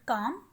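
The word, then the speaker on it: calm: Number 1 है quite, काम। काम का जो सिनोनिम है डेट इज साइलेंट।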